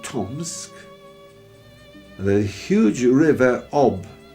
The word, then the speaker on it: Ob: We arrived at a place called Novosibirsk, and then a town called Tomsk, and the huge river Ob, O-B, in Russian it's pronounced Ob, and up that river by barges through incredible forests, swamps, towards the Arctic Circle almost.